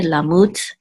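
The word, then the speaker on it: לָמוּת: And so the accent mark is on the last syllable, mut, okay, lamut.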